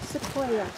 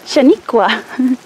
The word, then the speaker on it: Sequoia: How do you pronounce that? Sequoia. I thought it said Shaniqua.